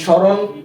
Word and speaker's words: স্মরণ: কোন উচ্চারণ হয়নি কেমন প্রথম নিয়ম পড়েছিলাম যে যদি কোন শব্দের প্রথম ব্যঞ্জনের সাথে মফলা যুক্ত হয় তাহলে এর উচ্চারণ হবে না যেমন স্মরণ স্মৃতি শ্মশান দ্বিতীয় নিয়ম ছিল যে